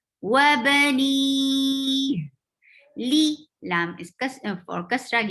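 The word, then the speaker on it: وبنيه: Wabani, and ha should be pronounced from your throat, lower part of your throat. Wabani.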